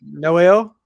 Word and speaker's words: Noelle: say it was no how'd you say it Noel uh-huh yep perfect that's me my last